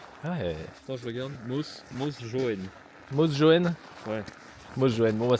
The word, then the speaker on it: Mosjøen: Mosjoen. Mosjoen? Ouais. Mosjoen, bon bah ça part. On est à Mosjoen et on est en train de visiter une rue très sympathique.